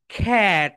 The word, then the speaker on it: cat: তাহলে my dear students, এতদিন যে তোমরা এটাকে বলে এসেছো ক্যাট বলে এসেছো, রাইট? তোমরা আই হোপ সবাই এটাকে ক্যাট বলে এসেছো, কিন্তু দ্যাটস রং। এটা রাইট প্রোনাউন্সিয়েশন কি বলতো, খ্যাট। সবাই বলো মাই ডিয়ার স্টুডেন্টস, খ্যাট। কেন খ্যাট হয়েছে বলো তো, কারণ এটা হচ্ছে খা সাউন্ড।